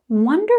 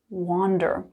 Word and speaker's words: wonder: Wonder is a really unique verb. But first things first, the pronunciation, wonder, like the number 1. Wonder, not wander.